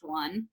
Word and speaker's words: one: the spelling of one the pronunciation of one has changed throughout history it's kind of a shrug on our end right it goes back to that time and location changing this pronunciation which is leading to why this is a tricky word now we know it's pronounced one i could not tell you why it's pronounced one um i believe that it used to be pronounced own back in like old english so basically what